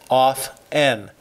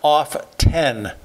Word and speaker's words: often: ourselves one last note the word often is pronounced with the T silent off n not off 10 look it up friends